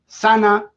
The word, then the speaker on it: Sanne: It's pronounced Joris and Sanne. Thank you, Connor, for clarifying that.